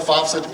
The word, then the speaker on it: FAFSA: It'll take you anywhere from FAFSA FAFSA is how you say it.